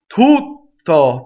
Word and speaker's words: Tutto: Tutto, there's our double T, right? You go up to the T, you don't say it, and then you say it.